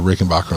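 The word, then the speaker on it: Rickenbacker: Most people say it the way I say it, but the family's actual way of pronouncing their name is Backer.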